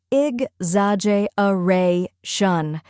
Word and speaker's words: exaggeration: is z AJ which rhymes with badge and carries the main stress then comes uh a